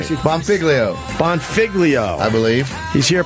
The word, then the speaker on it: Bonfiglio: Bonfiglio.